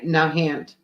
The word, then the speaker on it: Nahant: as it looks n Nahant that one actually is pronounced as it looks do you have the